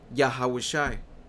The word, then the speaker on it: Yahushua: Porque tienes que regresar a la historia de lo que pasó con el nombre Jesús, o el nombre Yahushua, porque en el hebreo antiguo se pronuncia Yahushua, ¿ok?